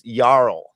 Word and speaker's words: Jarl: So the J is pronounced Y. So it's that's why you get that Yanese. It's it's yarl.